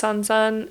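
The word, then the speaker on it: 三十三: but like for example the number 33 is uh can be pronounced Sansan and so that can mean like Troublesome or like birth difficulty and then 42 can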